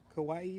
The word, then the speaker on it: Kawaii: I'm sorry dark Justice Kawaii is how you say it oh I'm so bad